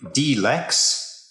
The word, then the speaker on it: dLX: shapes of deltoidal hexacontahedron the name d-lex is supposed to make you think of d60 the lex is spelt lx which in roman numerals is 60 the number of sides on the die except of course that we